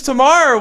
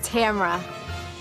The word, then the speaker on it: Tamra: And then next was Tamara, which like Tamara, pretty lady, but just wasn't too engaging and not too bright. And the correct pronunciation of my name is Tamra.